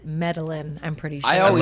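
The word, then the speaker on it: Medellín: Oh, I did like the find it- Georgia pie, not the Median.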